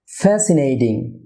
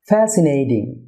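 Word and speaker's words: fascinating: Unstress syllable হয়ে থাকে, তাহলে টি এর উচ্চারণ সাধারণত ডি হয়ে থাকে, সুতরাং ফ্যাসিনেটিং, ফ্যাসিনেটিং।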